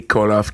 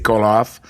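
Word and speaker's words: Koloff: Oui, mais la vraie façon c'est Colov K O L O F. Mais il y a pas de vraie façon si les deux sont bons. C'est c'est une façon de le prononcer en français puis en anglais c'est call off mais en bulgare c'est avec un V.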